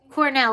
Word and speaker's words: Cornel West: Cornell. Cornell, like the university. Okay, thank you, special game. Cornell.